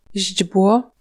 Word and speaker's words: źdźbło: Si le polonais a la réputation d'être difficile à prononcer, c'est aussi à cause de ses suites de consonnes parfois impressionnantes. Źdźbło, Brin d'herbe, bezwzględny.